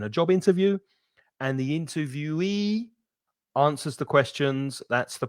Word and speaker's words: interviewee: Interviewer, stress the 1st syllable, interviewer, and interviewee. So the "e" at the end is stressed, interviewee. The interviewer asks the questions in a job interview, and the interviewee answers the questions.